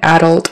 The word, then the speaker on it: adult: the the you and the second syllable alt alt is a horseshoe you like book took the word fall so adult is similar to a full class like think of a full glass f-u-l-l that's the sound